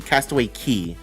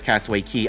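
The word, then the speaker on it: Castaway Cay: or not just weird it is pronounced key Castaway Key um everyone everyone there says Castaway Key I know like it's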